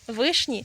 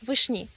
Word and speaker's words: вишні: Розгляньмо спершу варіант наголосу вишні. Пояснити його дуже просто, адже в іменнику в однині теж маємо наголос на корені, тому акцентуація є логічною. Таке наголошування подає і великий орфографічний словник української мови 2008 року. Однак цей наголос збігається із наголосом іменника в однині родовому відмінку, тому він поступово змістився на флексію і з'явився варіант вишні.